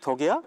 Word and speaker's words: DUKW: 많이 하잖아에도 있어요네 아 와 그러면 그 오리 덕이야 막 그렇게 생각하시는 분들이 많은데 아 그건 아닙니다 아 그래요 원래 스펠링이 dkw 그래요 덕 덕 버트네 근데 저것도